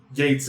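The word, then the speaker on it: Geiz: He says Gates, not Gaze.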